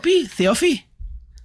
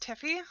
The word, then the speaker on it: Theophy: Theophy? It's pronounced Tiffy.